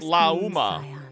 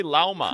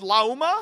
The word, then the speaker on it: Lauma: Wait, she actually says it like Lauma. She doesn't say Llama. Please ask our followers and other passers by except so it's actually pronounced Luma.